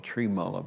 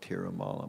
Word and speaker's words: Tirumala: In the account I was reading this morning, they called him Trimala Bhatt, but I've always heard it Tirumala, but it's probably just a variant on the pronunciation of the name.